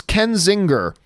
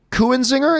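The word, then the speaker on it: Kenzinger: Everything was subjective, and it's Ken Zinger. Oh, because what did I say? Kuhn Zinger is what I said, but Ken Zinger.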